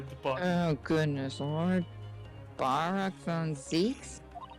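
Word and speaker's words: Barok van Zieks: Barack von Zeeks? Yep. Is that how you pronounce it? Yeah, you said that right.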